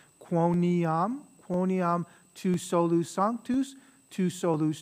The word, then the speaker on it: quoniam: dexteram Patris, miserere nobis, quoniam, so three syllables, quoniam tu solus sanctus, tu solus dominus, tu solus altissimus, Jesu Christe, cum sancto spiritu, in gloria Dei Patris, amen.